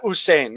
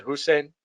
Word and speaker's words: Usain: ten minutes uh yeah usain maybe i mispronounced his first name usain bolt i said hussein it's close uh and so uh